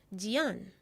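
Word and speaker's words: 件: The first character here is pronounced yifu, meaning clothing. The second, mai, means to buy. The third, jian, is a classifier.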